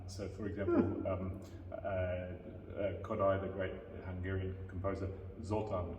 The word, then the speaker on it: Kodály: has an interesting aspect that every word has the accent on the first syllable. So for example, Kodály, the great Hungarian composer, Zoltán Kodály, Magyar is the Hungarian name for Hungary.